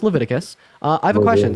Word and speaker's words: Leviticus: there's 1822 levius 18 it's pronoun it's it's pronounced Leviticus uh I have a question so you think